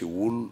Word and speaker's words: ولد: اللغه العربيه هي ولد ولكن في نطقهم الدال لا ينطق به في حال من الاحوال يقال احمد و محمد